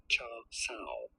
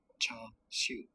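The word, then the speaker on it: char siu: Now in Mandarin, this is normally said as, or something along the lines of cha sao, cha sao. Cha sao. In Cantonese, however, and this is the name under which, or the pronunciation under which the dish is more famous, is as cha siu, cha siu, cha siu, pork or barbecued pork from Chinese cuisine.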